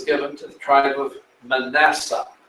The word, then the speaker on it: Manasseh: This region was given to the tribe of Manasseh, or Manasseh, as it's pronounced in Hebrew.